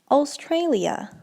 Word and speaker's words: Australia: the next word is Australia Australia now I know I know it's not how this word is written down but that's how you should be pronouncing this okay so the word is